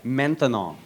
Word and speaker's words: maintenant: That's right, maintenant. Maintenant. 3 syllables, that's a long word for now. By the time you get finished saying maintenant, it's no longer maintenant.